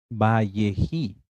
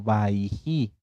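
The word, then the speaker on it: Vayechi: empezar con la pará bji puede ser que la encuentren ustedes en algunas Biblias hebreas en algunas tanaj como valleji o como baiji ambas pronunciaciones están bien bji o baiji qué quiere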